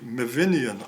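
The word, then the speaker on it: Myfyrian: meinian AR of meinian the F should be pronounced V in Welsh so it's the meinian archaeology um he had a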